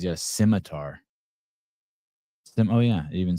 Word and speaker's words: scimitar: Scimitar it is.